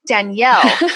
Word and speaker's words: Danielle: People are like, Daniel. I'm like, no, Danielle.